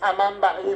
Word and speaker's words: Amambay: Pero es como que vos estés pronunciando Amambay ahora, porque es Amambaí realmente.